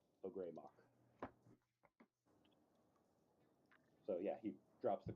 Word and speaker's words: Ogremoch: It's pronounced Ogremoch. Ogremoch.